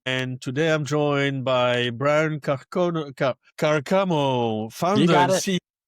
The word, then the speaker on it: Briant Carcamo: Okay, I say it right. Brian or Bryant and Yeah, Carcamo. Briant Carcamo. That's right.